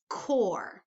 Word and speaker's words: Corps: right here is pronounced Corps okay the Corps of Discovery the P is silent it is a word from the French language it derived from the